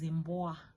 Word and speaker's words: mbwa: The third example is mbwa. Mbwa, that's a dog. So MBWA, mbwa. It's a 4-letter syllables, but it makes only 1 sound.